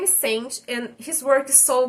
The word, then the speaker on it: Saint: His name is Saint, but it's spelled like sxxnt, which I find weird.